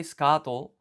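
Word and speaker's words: スカート: And so, here we just kind of write su um but when you say sukato the U is like barely pronounced, you hardly hear it from what I've noticed.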